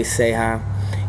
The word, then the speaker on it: Ceja: Facebook, I'm under Seha, and I'm back in Port Neches teaching. Awesome. Awesome. And just get Seha in touch spelled with me. C-E-J-A. CEJA. That's right. Yeah, Seha man.